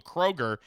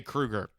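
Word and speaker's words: Kroeger: Uh, Michael Kroger then in a statement or do you say Krueger? I think I think it's pronounced Kroger.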